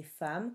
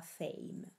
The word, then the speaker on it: femme: Temps, le P et le S sont muets, compter, le P est muet, et femme, comme on l'a déjà vu, se dit femme et non pas fame.